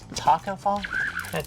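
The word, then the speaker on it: Tacko Fall: I'll pronounce it wrong, but I mispronounce easy names like Taco Fall.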